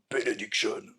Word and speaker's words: Benediction: C'est Ravage of Empire de Benediction. Alors, je dis benediction parce que c'est très important de le prononcer comme ça.